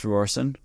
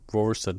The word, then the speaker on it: Rohrssen: what's your last name it's roron uh it's German so roor roron roron r o h RS s n that's not too bad